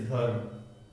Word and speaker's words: धर्म: तो ध के बाद हम र का उच्चारण करेंगे, फिर म का करेंगे, धर्म।